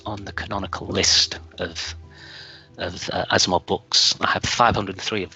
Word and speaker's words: Asimov: In particular, Asimov, I remember going to a public library and picking a book off the shelf. And I was so young that I mispronounced the name Asminov at the time.